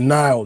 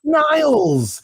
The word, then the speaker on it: Nile: be trying I'm like Nile no s like the Reverend I hate when people call me Niles Niles how's it going my